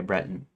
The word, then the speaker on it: Breton: Rhymes with threaten. Okay. Breton, right? Yeah. Not Bre Britain.